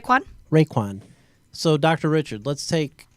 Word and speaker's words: Raekwon: I'm sorry how do you how do you pronounce McMillan's first name right quad Raekwon so dr.